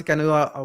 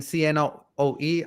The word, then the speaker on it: CNOE: uh Cano so that that I pronounce Cano when I hear people saying CN OE I like I'm not I don't know what they're talking about I have to teach